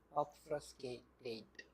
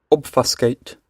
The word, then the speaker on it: obfuscate: I don't really how to pronounce obfuscate. Obfrascate. Yeah, we have to pronounce what? Obfuscate. Obfascate.